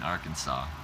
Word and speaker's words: Arkansas: I'm in Arkansas. Right? I don't pronounce the S on the end, right?